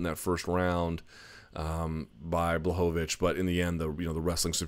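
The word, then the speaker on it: Błachowicz: guson defeats Yan and I've been mispronouncing this guy's name forever bovich apparently I thought it was blowitz but whatever bovich 30 27s across the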